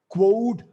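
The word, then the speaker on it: quod: exceptional life and those three words are rj quote this is how it is spelled a g e but pronounced rj q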